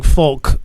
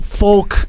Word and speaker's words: folk: Although folk is a very hard word to pronounce. I mean, it has that L in it, and they probably just told her to not try to not pronounce it at all because it almost isn't there.